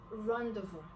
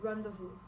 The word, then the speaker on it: rendezvous: The next one is rendezvous. It is spelled as R-E-N-D-E-Z-V-O-U-S.